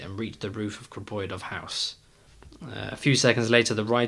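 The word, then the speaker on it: Griboyedov: Grboyedov.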